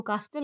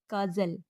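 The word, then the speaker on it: castle: जैसे टी ए एस टी एल ई काजल इसको कास्टल नहीं बोलेंगे बल्कि बोलेंगे काजल बी यू एस टी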